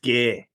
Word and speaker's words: Gai: you can do G welcome to the podcast mate thanks for having me waser and you're very welcome now are you a hard G or a soft G